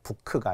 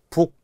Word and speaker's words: 북: 북. 책을 우리가 북이라고 하지 부크 이렇게 안 하잖아요. 부크가 아니라 북.